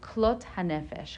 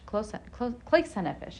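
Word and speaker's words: כלות הנפש: The extreme accomplishment of this state would be something called klot hanefesh, klois hanefesh in Yiddish pronunciation.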